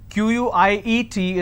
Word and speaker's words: quiet: some quiet means silence q-u-i-e-t is pronounced at quiet quite means q-u-i-t-e so